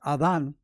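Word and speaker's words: Adán: My father, Adam, or Adan as its way is pronounced in Spanish, had been home all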